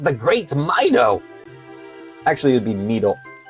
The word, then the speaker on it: Mido: Okay, Mido it is.